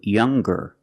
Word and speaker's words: younger: When we change these adjectives with er or with est, we're going to pronounce the g sound, the hard g. So it's younger, with a g sound.